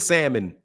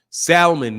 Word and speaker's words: salmon: m o n salmon salmon make me some of that salmon it's salmon no it's salmon it's salmon they pronounce the L some places other places of the L is silent so please stop preaching